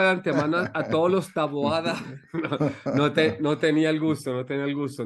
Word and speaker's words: Taboada: el día de hoy nos acompaña taboa está bien pronunciado tu apellido sí taboa sí no es taboada taboada Perdón taboada De dónde es